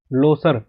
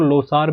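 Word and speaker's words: Losar: आगे चलते हैं लोसर, जिसको लोसार भी बोला जाता है कई जगह, बट इसका एग्जैक्ट अगर प्रोनाउंसिएशन की बात करें हम तो लोसर इसको कहा जाता है।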